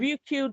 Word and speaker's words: Ryukyu: Ryukyu Dog Dingo. Yeah. So Ryukyu is like the traditional name for Okinawa. So he's like, Hmm. so a lot of Ryukyu dragon wrestlers have names which are related to Okinawan culture.